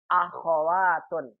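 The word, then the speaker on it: أخوات: Dalam bahasa kita akhwat. Kalau dalam bahasa Arab akhwatun. Hoknya berharokat. Perhatikan ya, beda antara bahasa kita dengan bahasa Arab dalam pengucapannya.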